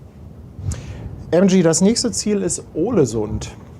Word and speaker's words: Ålesund: MG, das nächste Ziel ist Ålesund. Also Aal, das ist so ein A mit einem Kringel da drüber.